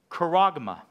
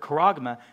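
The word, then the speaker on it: χάραγμα: mark of the beast, it's not scargizo, it is karagma. I think that's right. Karagma. You'll have to fact check me on the pronunciation. I told Sadie, I said, how am I going to word associate that? And she said, Keurig. Karagma. I think it's karagma.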